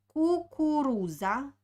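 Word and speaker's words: кукуруза: rashom next word is kukuruza here we have three oh so like so my lips are is the shape when i want to kiss someone okay so you should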